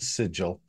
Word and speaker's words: Sigil: Yes, it's pronounced Sigil. Sigil.